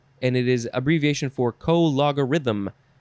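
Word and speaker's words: cologarithm: it is abbreviation for co logarithm how do you say that word i don't know let's read it because it's our next word co logarithm you got to emphasize the law co logarithm noun from 1881 the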